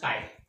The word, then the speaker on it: chi: लिखते हैं CHI बट it's pronounced काई.